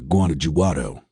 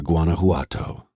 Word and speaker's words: Guanajuato: that they're heading to guanajuato pronouncing the j pope side there's no evidence v is anywhere near guanajuato he said pronouncing the word correctly replacing the j sound with an h sound i know i know